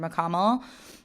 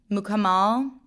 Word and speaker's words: Mukamal: Andrew let's let's manifest together right here right now that someday I work with Andrew McConnell. Mukamal. And that before that I learned how to pronounce his name properly.